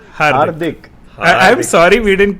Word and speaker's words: Hardik: It's Hardik. Hardik.